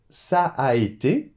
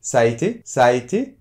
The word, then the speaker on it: Ça a été: on dit : « Ça a été ». On prolonge un petit peu le « a » puisqu’il y a deux « a » à côté.